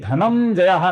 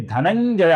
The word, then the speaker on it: धनंजय: यहां पर अनुस्वार का उच्चारण य ये अक्षर होता है दोस्तों, च छ ज झ य। तो ये धनंजय नहीं है, धनंजय भी नहीं है, ये धनंजय है, धनंजय। य का उच्चारण ज के साथ होता है दोस्तों।